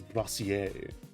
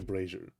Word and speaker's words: brazier: I think it's a brazier, because brassiere is how I'm pronouncing like brazier as brazier. It was just like a brassiere, which is a piece of clothing. I think it might be a brazier, like Frasier, Alpha Rat's cat, and no one else.